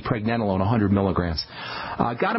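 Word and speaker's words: pregnenolone: bit easier on the body or pregnanolone and that's spelled p r e g NE n o l o n e pregnanolone 100 milligrams uh got to move on U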